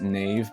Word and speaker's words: knave: Google says it's pronounced nave, but I'm pretty sure back then they pronounced the K, so knave, but let me know if I'm wrong in the comment sections.